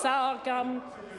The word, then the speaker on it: sorghum: The Honourable Judith Collins has sorghum, sometimes pronounced sour gum.